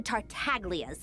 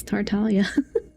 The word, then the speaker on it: Tartaglia: I'm not stooping to Tartaglia's level. I even mispronounced it. It's not. It's Tartalia, bro.